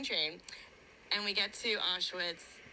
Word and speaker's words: Auschwitz: it wrong as well she's saying auschwitz it's awesome it's auschwitz yeah i think and and